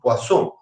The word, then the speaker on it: Poisson: La distribución de Poisson, acá dice Poisson, es la distribución, digamos, Poisson porque es un apellido francés y se pronuncia así, Poisson.